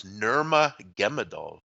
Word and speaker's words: Nurmagomedov: Donnie, it's Nurmagomedov. I went for the official spelling today on how they pronounce it, and I have Nurmagomedov.